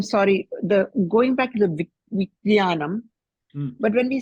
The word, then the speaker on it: Vijnanam: Vijnanam. Okay, this is the Vij and there's a cha-cha-ja-ja-nya. Immediately one after the other.